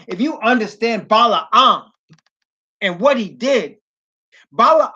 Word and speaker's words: Balaam: understand and let me say his name properly Bela um if you understand Bala um and what he did Bala on was paid